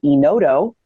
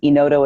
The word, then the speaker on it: Enodo: I also am a big fan of a product called Enodo. It's automated underwriting. That's a web platform. Enodo is spelled E-N-O-D-O.